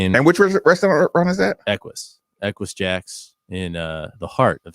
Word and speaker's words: Equus: They were like, there's no O in there, Nick.